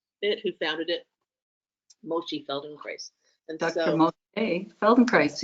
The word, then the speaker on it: Feldenkrais: This is what Rhymes with rice. this is the word that she keeps saying, Feldenkrais, and it is named after the person who developed it, who founded it, Moshe Feldenkrais.